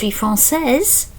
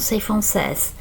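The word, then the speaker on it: française: we'll see in a minute, and then you pronounce the s if you're from France for a man or a boy frances for a girl or a lady. Okay, frances.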